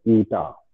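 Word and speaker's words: eta: Is called coefficient of viscosity, ये है ना, प्रोनाउंस एज ईटा, ठीक है, coefficient of viscosity, and this it is defined as the ratio of shearing stress to the strain rate.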